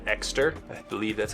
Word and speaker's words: Ekster: All right, the next one is a new wallet I've been using from a company called Ekster. I believe that's how you pronounce it, E-K-S-T-E-R.